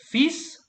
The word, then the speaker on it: fils: Ils ont 2 fils. I don't pronounce the L. L is silent there.